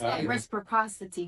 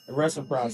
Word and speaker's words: reciprocity: Am I saying it wrong? Yes. You saying something reciprocity. Saying something. But we know her heart. That's not reciprocity.